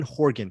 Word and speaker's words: Horgan: gotta look at that sharon horvin or something like that she's very good i i'm mispronouncing her name as we speak sharon horgan sharon horgan she is